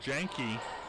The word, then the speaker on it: Jenke: Looks like we got confirmation it is Jankee on the last name, not Yoni, but thank you Ottawa parents for helping us out.